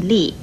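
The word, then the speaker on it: 叻: 和叨字字形相似的还有左边这个立字，国语注音了一立，四声立。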